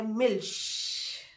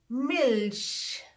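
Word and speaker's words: Milch: तो उसके लिए फॉर एग्जाम्पल मिल्क को कहते हैं मिल्श, इसकी प्रोनाउंसिएशन इसी तरह है। मिल्क इंग्लिश वर्ड है, मिल्श जर्मन में दूध को मिल्श कहते हैं।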